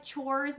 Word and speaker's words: chores: Só que é chores mesmo, é com esse som de ch, tá?